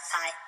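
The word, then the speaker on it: πῖ: P, not pie, but P. Fee, not phi, but fee.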